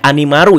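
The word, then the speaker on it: アニマル: ini a dalam lingkaran pelafalan Jepangnya kan jadi kayak animaru ya kalau kita dengar dan udah nonton ya. Ya udah tercetus ide dari binatang atau animal ya. Animaru animal binatang.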